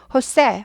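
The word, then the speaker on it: José: 그래서 스페인 스페인식 이름입니다 스페인에선 제 가 흐 발음나요 흐 그래서 호우스 하지 않고 호세 호세 많이 들어보셨죠 호세 호세 세입니다 호세 예 그래서 어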